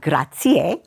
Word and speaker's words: grazie: you say and also we have grazier which is three syllables and not grazia because that's a female name and we have as